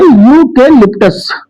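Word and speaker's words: eucalyptus: ऐसे ही इसका प्रोनाउंसिएशन बच्चों होता है यूके लिप्टस। तो यह भी प्रोनाउंसिएशन या से प्रारंभ होता है।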